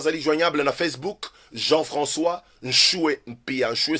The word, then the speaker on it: Nshue: Pasteur Jean-François, Zali joignable na Facebook, Jean-François Nchoué Mpia. Nchoué s'écrit N-S-H-U-E. N-S-H-U-E. Nchoué Mpia.